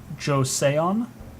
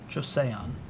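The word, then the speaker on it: Joseon: beta that I watched the Koreans here the josean josean that's how you pronounce that um they could get it was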